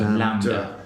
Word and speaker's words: Lambda: So I said to him, there's an album called, I think you pronounce it Lambda. It's Lambda. Okay, so Lambda.